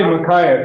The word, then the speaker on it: Micaiah: comes on the scene i would say makaya because like isaiah because it's got a i a and this just has i a h right so elijah and